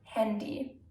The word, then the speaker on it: Handy: At the end of a word, the y is pronounced as e, and those words mostly derive from the English language, such as hockey, hobby, party, handy. Na, kommst du mit zur Party?